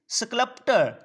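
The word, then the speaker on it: sculptor: Tell that it's स्कल्प्टर, यहाँ पर are silent है।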